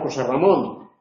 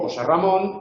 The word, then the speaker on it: José Ramón: en una sola palabra, el elemento que conserva el acento en la pronunciación es el segundo. Esto ocurre, por ejemplo, también con los nombres propios. Yo me llamo José Ramón. Cuando digo José Ramón, el único acento que se conserva es Ramón.